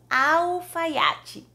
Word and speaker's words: Alfaiate: falarmos Astro em português o Alfaiate e like antes de consoante se pronuncia uh Alfaiate número 3 sabe essa